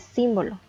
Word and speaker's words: símbolo: también tiene la tilde y la tercera palabra es símbolo dividida entre sílabas la sílaba tónica es sin y también podemos observar